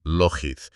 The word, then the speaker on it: Lockheed: Bueno, se pronuncia Lockheed, pero sí relacionado con la famosa compañía aeroespacial.